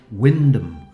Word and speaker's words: Wymondham: the lovely Church of why mundham dedicated to St Peter in lestershire there's another church in norfor with the exactly the same spelling name but they pronounce that Windom and I've been taken